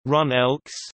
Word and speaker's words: GroenLinks: GroenLinks, Dutch pronunciation, Run Elks, English, Green Left, West Frisian, GroenLinks, GL, is a green political party in the Netherlands.